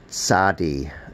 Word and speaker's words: Tzadi: The Tzadi has that Ts sound, as in Betsy. Some people have trouble saying it, but if you say the name Betsy, Ts. Betsy, Ts. Ts. So you can pronounce it Ts.